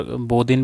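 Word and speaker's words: Bodin: Next question बोधिन के बारे में, ठीक है। बोधा इनको कई बार बोधिन भी इनको प्रोनाउंस किया जाता है, समटाइम इनको बोधा भी कहा जाता है, ठीक है।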